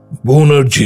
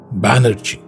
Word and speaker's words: ব্যানার্জী: বোনার্জি এইবার অবাক হলেন প্রফেসর বোনার্জি নয় ব্যানার্জী কিন্তু আমি তো এই